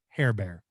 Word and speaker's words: Herbert: house by the way Herbert in French is pronounced hair bear by the way in French you know that's funny